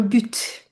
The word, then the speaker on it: but: Avoir un but. Avoir un but, avoir... But, B-U-T-E. B-U-T, but it's an exception. Usually we don't pronounce T in the end. Here there is an exception. We pronounce.